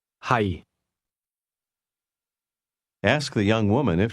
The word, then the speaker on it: 係: Notice the lowlevel tone in the word am or to be. Listen and repeat to practice your pronunciation. Hi. Hi.